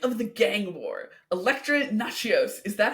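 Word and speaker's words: Natchios: of people pronounce it like a little bit of an accent but it's essentially nachos okay uh Electro nachos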